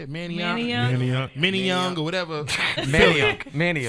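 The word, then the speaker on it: Manayunk: Manioc?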